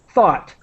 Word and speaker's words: thought: the I'm trying to the pronunciation is like the word hot but with th thought thought thought so that's think to